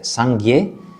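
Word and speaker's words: སངས་རྒྱས: Entonces la palabra Buda en tibetano se dice Sangye, la primera sílaba Sang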